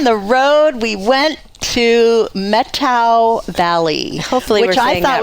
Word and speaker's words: Methow: road again on the road we went to metto Valley Hope which I thought was methow until I Googled it and got the correct